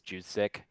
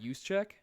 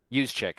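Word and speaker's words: Juszczyk: Judik, I believe. What? Use check. Use chick.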